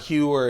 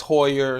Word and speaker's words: Heuer: I'm slack on replying someone told me that it's not humor it's Hoyer and so every time